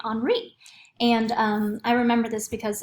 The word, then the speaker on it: Henri: And this right here, it looks like Henry, but how we pronounce it is the H is silent in French, so we're going to say Henri.